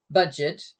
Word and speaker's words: Budget: the word in English, budget, but in German it's pronounced the French way.